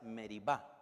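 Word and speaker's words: Meriba: las aguas de meriva probablemente la pronunciación adecuada es meriva también le irritaron en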